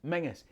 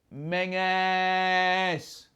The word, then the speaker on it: Menzies: It's pronounced Mingus. M-E-N-Z-I-E-S. Mingus.